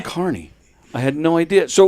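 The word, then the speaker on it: Kearny: I I I there's an an E omitted in New Jersey. It's Carney with It's K E A R N Y. And people all say Carney, New Jersey.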